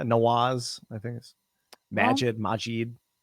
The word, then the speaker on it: Nawaz: i asked him either i've been saying nawad this whole time oh yeah yeah nawaz i think is magic